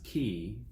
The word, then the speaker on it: quay: pronunciation that were qu8 why we pronounce key but under pressure the spelling presumably it does have a possible pronunciation of Quay and that does seem to be what Tennyson had in mind it means a dock